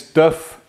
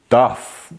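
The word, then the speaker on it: Div: We spell it D-I-V, but we say it D-I-F-F. So you can spell it either way, as long as you don't say Duff.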